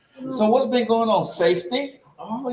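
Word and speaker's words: SFTTY: to check out my latest album which is pronounced safety but it's spelled sftt y go check it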